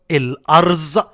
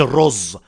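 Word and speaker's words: الأرز: انواع الاشجار واهم الاشجار اقول لك شجر اسمه الارز مش الرز اسمها ايه الارز الرز ده اللي انا وانت بناكله الارز ده شجر طويل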